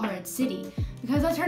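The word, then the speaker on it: Atziri: Okay, so my best friend's name is Ed City. It is spelled A-T-Z-I-R-I. And one of my pet peeves, actually, is when people say Ed Siri. Like, when they don't really know her, they say Ed Siri.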